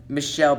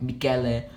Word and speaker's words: Michele: what I'm you know I'm gonna pronounce it like Michelle Batali cuz I don't think most of you guys in the u.s. pronounce Michelle like mikela unless if you're Italian and so far there